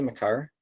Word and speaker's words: Makar: I'm going to go with actually Makar. Like, is it Makar? Is that how you say it? Makar?